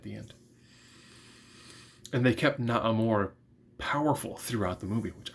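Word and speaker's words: Namor: Naamor, that's how I pronounce his name, does say the M word.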